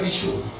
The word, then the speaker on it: Vishu: See, V is pronounced as B in eastern part of the country. Basanta, they say Basanta. And Sh is pronounced as H in Assamese. So Vishu becomes Bihu.